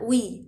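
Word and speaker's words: weigh: الفعل وي برضو نفس الكلام على فكره، هو نطق وي، يعني هو بتنطق بنقولها وي مش فودافون.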